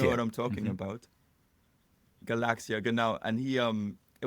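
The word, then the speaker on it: Galaksija: invented this Galax computer how how do you pronounce it you know what I'm talking about Galaxia now and he um it was this do-it-yourself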